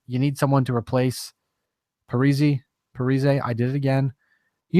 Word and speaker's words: Parise: Parise. Yeah, that's what I figured. I just can't pronounce anything or enunciate very well.